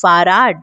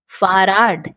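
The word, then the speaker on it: Fahrrad: फिर आपके पास फहर्राड है। फर्राद, है ना? इसका उच्चारण ठीक वैसे ही करें जैसे यह लिखा है।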